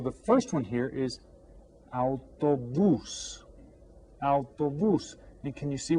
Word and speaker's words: Autobús: Autobús. and we stress this last syllable with the accent on it.